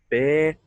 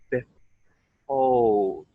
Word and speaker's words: behold: Behold. So mouth comes open and mouth closes a little at the end. Something very much worth considering as well. Try to keep the sound smooth after the H. Behold.